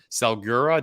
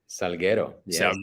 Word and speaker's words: Salguero: honored to have uh our special guest carlos salgura did i pronounce that correctly salguero yeah okay i gotta get the i gotta